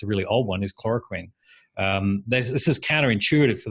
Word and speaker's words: chloroquine: the word lurid or I mean it's pronounced chloroquine yeah okay you you